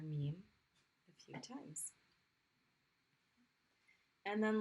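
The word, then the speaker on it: ميم: The letter Meme, its name is Meme. There we go. And the sound that it makes, of course, is the M sound.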